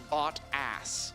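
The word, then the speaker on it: Bottas: guy's pretty cool and yes his name is pronounced bot ass it's really just the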